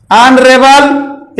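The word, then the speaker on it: honourable: ऑनरेबल, ऑनरेबल में जब इसका उच्चारण देखें, ऑनरेबल यानी आ से स्टार्ट हो रहा है, तो यहां पे उच्चारण देख करके, यच देख करके ए का प्रयोग ना करें, बल्कि उसके उच्चारण को देखें।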